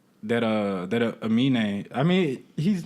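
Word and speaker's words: Aminé: I used to call him like Anime. No, it's an N. The N is. I mean, the M is first.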